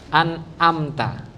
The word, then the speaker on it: an'amta: Yang pertama hamzah. Yang kedua ain anamta. An'amta.